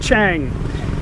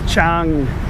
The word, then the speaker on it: Chang: sing or tongue whatever it's not Chang it's spelt Chang in Thai language Cheung beer is actually named after the elephant in Thai language elephant is Chung Chung nut Chang but you can